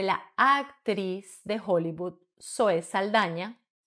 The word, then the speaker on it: Saldaña: actriz de Hollywood Zoe Saldaña cuyo apellido pronuncian sobre todo en Estados Unidos como saldana así que vamos a